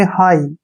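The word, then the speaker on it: high: एच आ गया तो जी एच का उच्चारण हमने नहीं करना है एस का उच्चारण श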